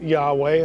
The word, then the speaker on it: Yahweh: Again, we would pronounce his name Yahweh.